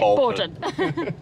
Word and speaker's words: Bourton: I can't believe we've said Bourton wrong. The whole vlog, sorry. So Bourton-on-the-Water. We'll have to dub over and every time we say it, Bourton.